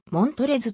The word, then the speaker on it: Montrezl: た fast ネームのマントれずの l は晴れるの父親が思いつきで付けただけだとされておりそのスペルは発音されずもん取れずと発音されるありがとうございます